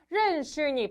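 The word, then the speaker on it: 认识: 해서요 슈니 했대요 뭐라고요 슈니 발음 어렵다 슈니 한번 더 니 혀가 입천장에 말려 있지만 혀는 입천장에 닿지 않아요 슈니 자 이때 슈 뭐라고요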